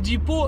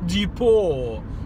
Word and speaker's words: Depot: Depot. What's this silent T nonsense?